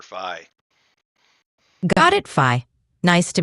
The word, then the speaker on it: Phi: My name is Phi. Either the Greek letter pronounced American way, or if you prefer the Greek pronunciation, you can call me Phi, but I prefer Phi.